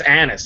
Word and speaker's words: anise: I thought it was star anus. That's what I used to say. But I think it's anise. I think it's honestly anise. That's how you say it.